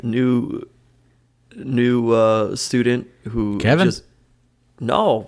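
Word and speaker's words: Kevie: and didn't even actually tell him his name's kevin well why is it cave no i think it's kevi and i'm saying it wrong not kevin i don't know everybody says when they talk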